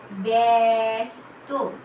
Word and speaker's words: ব্যস্ত: বয় জফলা দন্তেশ্বয় তো ঠিক একইভাবে ব্যস্ত। এখানে এ চলে আসবে বাচ্চারা মাঝখানে জফলার জন্য।